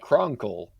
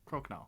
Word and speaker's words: Crokinole: I still gotta add that fire potion, a heat resist potion, and a board game called Cronkle. Crokinole. Crokinole. Please pronounce it for me.